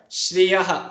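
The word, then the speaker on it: श्रियः: How do you pronounce this word? Shriyaha. Shri. You first say Sha and then Ri.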